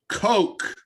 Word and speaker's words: Kok: It's that- to me, pronounced Coke. Yes. I just want to clarify for anyone seeing the screen, it's pronounced Woody Coke, Coke. not what you think it is.